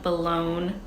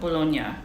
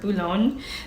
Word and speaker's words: Boulogne: Next on my list is the Louis Vuitton Boulogne PM, which I think that's how you pronounce it. Let me see. Boulogne. Boulogne. Boulogne-sur-Mer. Boulogne. See, that one says Boulogne, not Bologna.